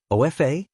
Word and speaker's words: OFA: Offa like OFA, but pronounced like a word.